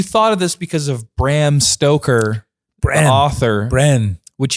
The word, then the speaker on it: Bram Stoker: of this because of bram stoker bro author bren which he just pronounced his name wrong bran stoker it's bram stoker bram stoker that doesn't